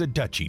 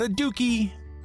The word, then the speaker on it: duchy: dookie that was incorrect the correct pronunciation for a realm ruled by a duke is a duchy not a dookie i apologize in the